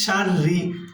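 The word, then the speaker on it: شَرِّ: মিন শাররি, আর রটা এখানে আমরা পাতলা করে পড়বো, অর্থাৎ বারিক করে পড়বো, কারণ রয়ে মুসাদ্দাদ নিচে জের আছে।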